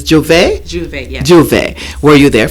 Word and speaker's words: j'ouvert: and it's the proper the proper pronunciation pronunciation is j'ouvert do they were you